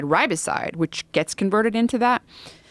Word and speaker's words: riboside: But nicotinamide riboside, which gets converted into that, which eventually makes its way to NAD, is a supplement.